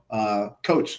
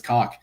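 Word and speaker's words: Koch: His last name was Cock, but it was spelled like coach. And during like football practice, our coach always called him like, coach, get over here. And he'd always have to correct him like it's Cock. Sorry, sir, it's Cock. Actually, Cock, sir.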